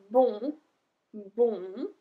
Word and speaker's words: bon: It's bon, bon. But we pronounce everything for the feminine one, bonne, because